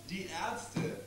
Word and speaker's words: Die Ärzte: Die Ärzte.